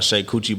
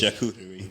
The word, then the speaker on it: charcuterie: I got a shake coochie board. Whatever, that ain't the right way to say it. Charcuterie.